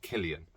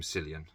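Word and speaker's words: Cillian: lson cylian Murphy or Killian Murphy apparently that's how you say his name Killian everyone else is called him selan uh Jack Rainer Babu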